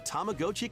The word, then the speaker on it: Tamagotchi: Welcome to Tamagotchi Plaza, a brand new entry in the Tamagotchi Connection series. I guess it is Tamagotchi, huh? There are That is how you would actually pronounce it.